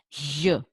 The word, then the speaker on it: gli: Is not gli, is J. You have to put your tongue flat and your teeth almost that touch each other, and you put out the air. J, J, J.